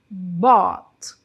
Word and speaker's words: bought: Então, esse verbo é muito utilizado e a conjugação dele no passado é bought. Bot. Bot. Aproveitem para pronunciar também aqui junto comigo, né? Olha, a pronúncia é bot. Bot. Então, o verbo by comprar na forma dele do passado é bot.